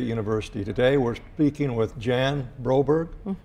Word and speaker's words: Jan Broberg: today we're speaking with Jan Roberge I pronounced that correct you did good job thank you I need